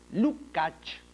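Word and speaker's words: Lukács: Marx y posteriormente el gran filósofo húngaro georgi lucach no se escribe lucx no y se pronuncia lucach Eh así como el escritor rumano eh zoran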